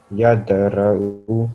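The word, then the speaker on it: يدرأ: So say it with a jumping sound, this dal. Yadura'u. Yad, say yad. Yadra'u.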